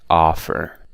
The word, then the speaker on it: offer: I think it'll be offer because all of the other words are stressed on the second syllable except for offer so offer is the